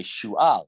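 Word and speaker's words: Shual: as to say Shu'al, it's not Shaul, Shu'al, Va'arosh Echad Yifna Derech Beit Choron, Va'arosh Echad Yifna Derech HaGvul, Anishkaf Al-Geyat Sfa'im, HaMidbara.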